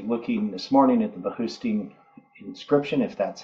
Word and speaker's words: Behistun: I was actually looking this morning at the Behustin inscription, if that's how it's pronounced, I'm not sure. This isn't an inscription that was found a long, long time ago. Behistun, it's B-E-H-I-S-T-U-N.